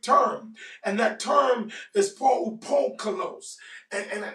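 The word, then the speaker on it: polupoikilos: And that term is poukolos. And let me say it again, or let me spell it for you. P-O-L-U-P-O-I-K-I-L-O-S. And it is poukolos.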